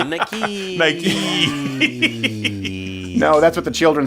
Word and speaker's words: Nike: I almost put like Nike with like 5 E's after it just to help. Yeah, to just read it out phonetically. Nike.